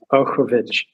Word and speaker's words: Okovich: And I see and I'm going to say Okovich. Is that correct? That's pretty close. Okovich. Say it again. Okovich. Okovich. So on the first syllable.